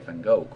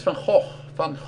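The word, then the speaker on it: Van Gogh: So, next time you see this painting, I don't want to hear Van Go. By the way, it's FH fun. Try to pronounce it. Fh, not fang.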